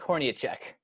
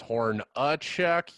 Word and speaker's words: Hornacek: And introducing our special guests for this evening, Horniacek. How's it going? It's Hornacek. You were close, though. You at least pronounced the E correctly.